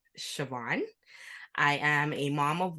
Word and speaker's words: Siobhan: those who don't know me my name is pronounced Siobhan I am a mom of one I'm a